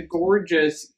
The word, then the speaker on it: Gourdgeous: just type in the gorgeous candle here and see um if it's on sale at all it's spelled gourd which is fun which is funny because it's a take on gorgeous actually it's not on